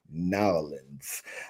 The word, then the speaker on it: New Orleans: Yes, we're headed down to New Orleans, or how the locals say, Nowlands.